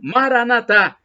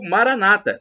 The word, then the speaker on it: Maranatha: do aramaico Eu Clamo Maranatha como dizem os católicos como nós dizemos com a tônica na última sílaba ou Maranata como disso o evangélico protestante com a tônica na penúltima sílaba não importa porque somos